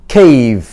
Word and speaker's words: cave: C는 K, A는 A, V는 V, E는 소리가 나지 않습니다. 그래서 cave.